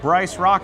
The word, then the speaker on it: Bryce Rock: But Bryce Rock, it sounds or rhymes with Joyce Bach.